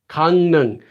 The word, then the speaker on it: 강릉: 강릉, 강릉. And you can make this again for yourself. If you don't know this, you forget this, try to say 강릉, 강릉, 강릉, 강릉, 강릉, 강릉, 강릉, 강릉, 강릉, 강릉, 강릉, 강릉, 강릉.